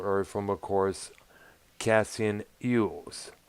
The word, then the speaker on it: Elwes: Now, Samaha learned of Battlefield Earth from, of course, Cassian Ewes, pronounced or actually spelled Elwes, an agent from the theatrical company.